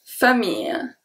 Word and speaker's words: famille: Ma famille. Ma famille. So ma, there's nothing different about the pronunciation. Then we have famille. Famille. Here we have the I followed by the rolling I.